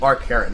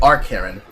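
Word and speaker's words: Arkheron: Bonfire Studios should be Arc Heron, unless I'm mistaken. That is not the end in our Quran. That is... Nope! I am correct! I pronounced the name incorrectly. I said Arc Heron.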